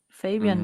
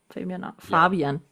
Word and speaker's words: Fabian: Fabian did one. Fabian. We have to say it German because he's German. Yep. Fabian, not Fabian.